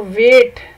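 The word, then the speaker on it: weight: किया जाता है तो वेट को मेजर करने के लिए। तो वेट के स्पेलिंग हैं डब्ल्यू ई आई जी एच टी, वेट। आप देखें कि इसमें जी एच जो है वो साइलेंट है।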